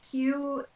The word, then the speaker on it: KYU: EP um yeah so Q um is spelled KY U he's a producer from